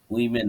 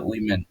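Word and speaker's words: women: ও এম ই এন উইমেন বলে উচ্চারণটা হবে উইমেন ঠিক আছে তারপরে হচ্ছে আই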